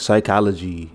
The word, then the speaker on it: psychology: spelled weirdly though like things with silent P silent G's psychology like psychology is another one I hate hey spell psychology because it's like why is the P like what's the P yeah like what is